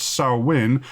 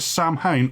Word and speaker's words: Samhain: It looks like it's spelt as Samhain, but it's pronounced Samhain, as the native languages of Albion aggressively resist English.